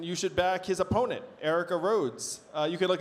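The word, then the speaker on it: Aarika: should back his opponent Erica rhods uh you can look it up it's Erica for congress it's spelled a a r i Ka so there there are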